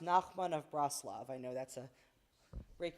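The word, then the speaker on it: Nachman of Breslov: And it's pronounced Nakman of Braslav.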